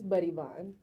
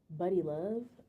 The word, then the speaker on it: Buddy Vonn: It's Buddy Vonn. Yep, Vonn. Do people mispronounce this? A lot of people call me Buddy Love, and a lot of people call me Bunny. But yeah, it's Buddy, Buddy.